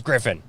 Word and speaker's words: Griffin: throat there about that it's not griffith it's griffin so anyways he's going